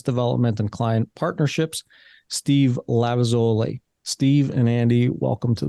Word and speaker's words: Lavezoli: I'm Lavezoli. Am I pronouncing that close enough to correctly?